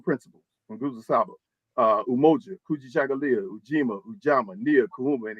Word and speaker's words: Kujichagulia: We got Kujichagulia, and it sounds just like it's spelled, Kujichagulia, phonetic, self-determination, that we define ourselves, we name ourselves, we speak for ourselves, and we build for ourselves.